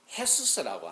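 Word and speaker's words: Jesús: 비슷한 언어를 살아가는 사람들 중에 헤수스라고 하는 지저스가 제이가 히읗 발음이라 헤수스라는 이름이 대단히 많습니다.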